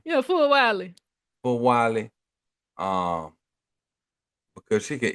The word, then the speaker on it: Fulwiley: That's how you pronounce her name, Yeah, Fulwiley.